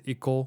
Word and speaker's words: Ico: I pronounce the Iko because I'm pretty sure it's based on the Japanese pronunciation of To Go, but it's the same company as The Last Guardian, Shadows of the Colossus.